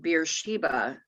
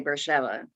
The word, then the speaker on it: Beersheba: of beersheva today now we would read it beersheba but one of the things you learn very quickly when you go to israel for the first time is nothing is pronounced the way you would pronounce it so they would say bersheba go to that city